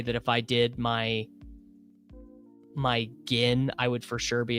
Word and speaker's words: GHIN: Ghin? You just say gin? You don't say gin? What do you guys say? Ghin. Gin or gin? I guess I said it wrong. Ah, okay. Gin like the drink.